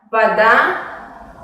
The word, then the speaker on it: вода: En la palabra вода pasa lo mismo. La vocal A es tónica y se pronuncia de una manera normal, y la vocal O se pronuncia más como una A breve.